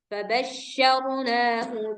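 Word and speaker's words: فبشرناه: Fabasyar rnya tebal.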